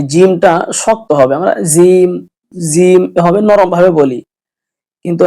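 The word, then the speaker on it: ج: এটা গলত সহি হবে হলো ফা জিম এই জিমটা শক্ত হবে আমরা জিম জিম এভাবে নরমভাবে বলি কিন্তু না জিমটা সহি উচ্চারণ শক্তভাবে হবে জিম হা এই যে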